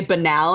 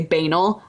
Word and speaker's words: banal: to be a a-n-a-l it's spelled like anal with a b at the beginning which is why people pronounce it incorrectly i used to be